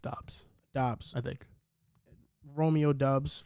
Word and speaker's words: Doubs: I think it's pronounced Dobbs.